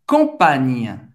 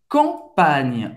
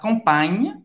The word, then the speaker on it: campagne: Agora tem uma pequena diferença, é que o GN em francês não nasaliza a vogal que vem antes. Por exemplo, como você pode pronunciar essa palavra que significa o campo em francês? É la campagne. La campagne.